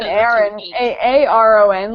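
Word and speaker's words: Ahren: It's Aaron, but it's spelled A-H-R-E-N.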